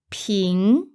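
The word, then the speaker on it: 瓶: the word for bottle ping pins that's second tone you can remember it as the Ping sound you get when you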